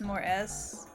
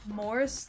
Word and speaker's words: Morse: Not trying to dunk, but are you pronouncing Morse code as more S? Like, more S? Is that not how it's supposed to be pronounced? Is it not Morse code? Fuck no? It's Morse? Like Norse?